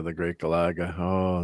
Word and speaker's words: Galaga: Galaga and Galaxian are some of my favorites.